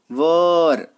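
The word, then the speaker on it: were: चलिए अगर कहीं पे आपको वॉज या वर दिख जाए, देखिए ये वर, इसका प्रोनाउंसिएशन वेयर नहीं करते, है ना, वर, तो वॉज और वर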